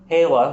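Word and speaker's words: Lá: which is three words la which is the word for day la which is a version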